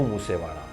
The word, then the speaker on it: मूसेवाला: सिद्धू अपने गानों में अक्सर एक लाइन का इस्तेमाल करते थे, दिल दानी माड़ा सिद्धू मूसेवाड़ा। वाड़ा यानी वाला, पंजाबी में इसी तरीके से प्रोनाउंस किया जाता है।